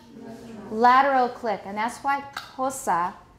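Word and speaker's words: Xhosa: click and that's why kosa is pronounced with the lateral click plus aspiration so i want you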